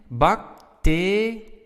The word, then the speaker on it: bacterie: Bacterie. Alright, so now our stress is on te. It's not at the end of the word, which is quite important.